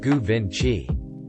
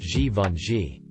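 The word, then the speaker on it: Givenchy: talking about a French fashion designer but kept mispronouncing his name say it goovin Chi ever The Helpful little idiot I said it's pronounced ji Von ji without a word he put his Fork down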